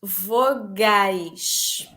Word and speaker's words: vogais: Um, vowels, vowels, vogais.